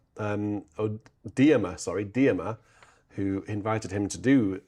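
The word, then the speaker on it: Dearmer: But what clinched it was Percy Dreamer um or Dmer sorry Dmer who invited him to do um the English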